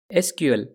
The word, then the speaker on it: SQL: SQL we can say the most correct way to pronounce the language is as letters SQL but as I said